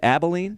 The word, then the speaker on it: Abilene: And we've got Jerrod Cook from, how do you say it, Abilene? Yeah, it's not from as, Abilene.